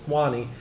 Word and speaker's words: Suwannee: an atlas and decided to scratch through the word PD and shorten Suwannee, S-U-W-A-N-N-E-E, to two syllables, Swanee, and immortalize the river.